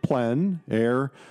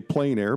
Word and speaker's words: plein air: open air or outdoors the French say plenn air others say plein air but it doesn't matter how you say it really it's a huge movement